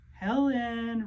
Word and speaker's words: Helen: Helen rhymes with melon.